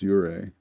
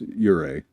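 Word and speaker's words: Ouray: That's I think that's Ure. Yeah. It looks like it should be spelled Are, but it's Ure. The O, I think, is silent. If I've got it right.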